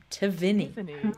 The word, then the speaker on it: Tivini: You remember, it's called Tivini. Tivini, now. not Taivini.